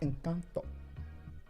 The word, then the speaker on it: Encanto: I've watched Encanto many times and it is a good It's pronounced Encanto, babe.